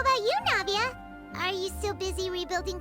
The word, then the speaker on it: Navia: Navita! That's the familiar voice. It's Navia! Navia.